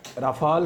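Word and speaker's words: Rafale: India में राफाल का रोला पड़ा हुआ है, जिसको दो तरह लोग प्रोनाउंस करते हैं। कुछ लोग इसको राफेल कहते हैं, कुछ इसको राफाल कहते हैं।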